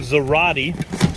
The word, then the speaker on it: Zarate: for this came from zarate it's uh pronounced like karate steel works they're not